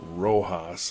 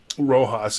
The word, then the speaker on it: RoHS: reduction of hazardous substances it's pronounced Rojas as far as I can tell it's a directive that